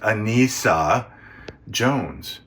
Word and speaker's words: Anissa: In real life, Buffy is played by Anissa Jones, pronounced Anissa Jones.